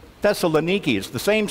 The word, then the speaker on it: Thessaloniki: day only it's not pronounced thessalonica today it's pronounced that's Thessaloniki Thessaloniki is the same sound the same city the